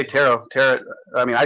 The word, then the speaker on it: tarot: Is it pronounced tarot? All right, well, let me read. Tarot. I just say tarot. I mean, I say tarot. Okay. I just take the T off the end, tarot.